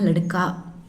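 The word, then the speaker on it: लड़के: Actually சிறுவர் அப்படின்னா லடுக்கா. சிறுவர்கள் அப்படின்னு வரும்போது நம்ம லடுக்கே அப்படின்னு ப்ரொனவுன்ஸ் பண்ணணும்.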